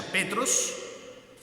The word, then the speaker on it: Petros: griego significa significa piedra que se pronuncia petros qué es una piedra chiquita y petra que significa una piedra grande una roca entonces en la traducción